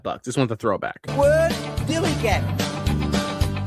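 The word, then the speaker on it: DILLIGAF: Dilly gap. That's spelled D I L L I G A F. Dilly gap.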